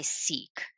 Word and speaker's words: SEAK: So when I was looking into non-clinical options for myself, I actually attended a conference that was organized by Seek, and that's spelled SEAK.